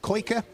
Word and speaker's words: Koike: of the day, is double check the pronunciation of the surname. So it's Klaus Koike.